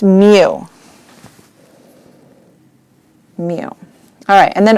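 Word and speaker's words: μ: or indicate the population mean and it's paramount pronounced mu you know alright and then over yonder for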